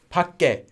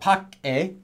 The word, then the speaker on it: 밖에: have this letter here this is actually going to become pronounced as pas gay gay PUC gay not PUC a or PUC K or anything like that PUC gay gay due to sound change roles so literally that was